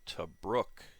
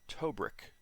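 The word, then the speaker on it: Tobruk: within uh desert wings to brooke yes i've pronounced it right the the one guy's from australia and he says it's to brook instead of tobrik which is how i've been pronouncing it so um good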